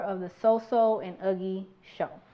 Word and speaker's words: Uggy: lot of different names, and so you may pronounce them wrong. So like him over here, for instance, his name is Uggy, but for some reason I wanted to call him Iggy for like the longest, but.